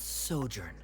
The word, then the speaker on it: sojourn: Director Zosimos, how do you pronounce this word? Let me see. That's sojourn.